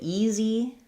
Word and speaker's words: easy: First syllable stress, tense E vowel, and then this letter S says the Z sound, and then we have another tense E vowel, but it's shorter. So it's going to be like a long E and then a shorter Z.